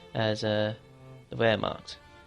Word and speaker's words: Wehrmacht: 2 as uh the where marked that's how you pronounce it ver that's v e R marked German's a bit different like that um depending on